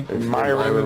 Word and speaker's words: Myron: Myron rhymes with Byron.